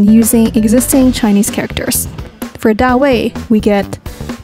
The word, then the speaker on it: 大卫: In Chinese, David is pronounced as 大卫.